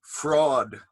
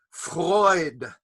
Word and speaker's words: Freud: They called him Sigmund Fraud. But he was not a fraud. He was a Freud with an oi, Freud.